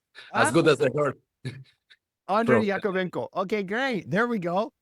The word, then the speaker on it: Yakovenko: here, I was trying to make sure I pronounced your last name right. I'm going to try it again. It's Yakovveno. Perfect. Yeah, I see. It's as good as I Andre Yakovveno.